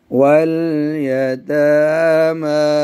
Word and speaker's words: اليتامى: आगे जी वल यतामा. इसमें या साइलेंट है.